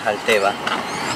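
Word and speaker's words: Xalteva: Ahí puedo observarle cómo se escribe con X, Salteva, y uno lo pronuncia Salteva.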